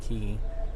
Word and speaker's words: quay: spelled q-u-a-y and a key which is looks like quay but it's pronounced key it's like a wharf